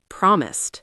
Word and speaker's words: promised: Second, promised. Promised. Promised. Stress on prom.